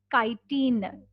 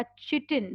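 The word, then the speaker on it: chitin: Wall में होता है काइटिन या चिटिन, some people pronounce it एज चिटिन, some people pronounce it एज काइटिन।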